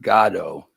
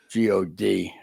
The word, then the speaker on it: Godot: It's actually spelled, sometimes they pronounce it Godot, Godot, God.